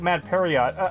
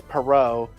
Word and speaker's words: Perrault: pronounce this french name it looks like mad period oh perot okay how do you that up yeah they call him mad period when it's perrault but then they call